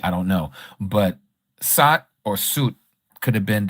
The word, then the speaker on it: Seth: So, they say Seth in English, right? But his his name is actually pronounced either Sat, Sut, or could even have the sound Set. But we know there's no E in Hebrew, but they could have